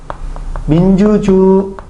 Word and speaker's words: 민주주의: 첫 음절이 아닌 거에 의해서 일단 기본적으로 의라고 발음해야 될 수 있고, 그 다음에 또 한 가지 뭐로 발음해도 돼? 이라고 해도 되죠. 이 의는 다만 4에 의해서 의라고 발음하는 건 기본이고 에라고 해도 되죠.